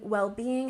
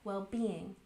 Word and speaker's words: well-being: And well-being has the primary stress on the second syllable. Well-being.